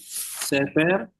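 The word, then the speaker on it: ספר: Ini sever ya pakai dua titik dia bukan tiga titik. Saya kadang-kadang juga salah juga karena terlalu banyak nulis dia ini se ya bukan ini nih ya. Bukan segol sere sefarim ya.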